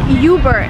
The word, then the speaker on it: Uber: And Uber is originally a German word, but Americans use it in the sense of better. So it's not Uber. It, again, you do not follow American pronunciation rules here. You just say Uber.